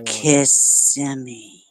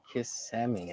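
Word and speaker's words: Kissimmee: I went to uh how do you say it again CI kissi listen to me listen you ready yeah say kissi kiss semi oh okay kiss like kiss kiss kiss kiss kiss kiss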